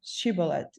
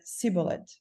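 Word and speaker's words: shibboleth: said they unto him say now shibolet and he said siet for he could not frame to pronounce it right then they took him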